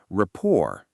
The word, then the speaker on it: rapport: Rapport. Noun. Definition: a friendly, harmonious relationship where people understand each other's feelings. Note the silent T at the end.